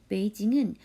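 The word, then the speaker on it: 北京: 한자 도금은 북경. 발음으로는 베이징이라고 해요. 중국의 수도이죠. 베이징은 여러분도 잘 알고 있을 거예요.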